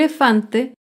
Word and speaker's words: elefante: grave sin tilde elefante el elefante se acentúa en la penúltima sílaba pero no lleva tilde porque termina en vocal elefante otro ejemplo de